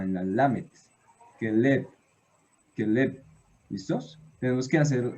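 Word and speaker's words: כלב: Realmente, aquí el acento está en esta sílaba, en la lamet, keleb, keleb.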